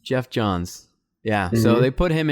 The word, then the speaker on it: Geoff Johns: John's GF how do you say his name Geoff Johns Geoff Johns yeah so they put him in charge and